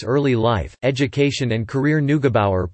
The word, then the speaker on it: Neugebauer: Neugebauer, pronounced Nag-a-Bauer, was born in St.